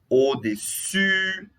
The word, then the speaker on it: au-dessus: Quando eu tenho o O e o U, é o som de U. Normal, sem fazer muito esforço. Eu falo assim com os meus alunos, sem fazer muito esforço, sem fazer aquele biquinho do U. Não, aqui é U.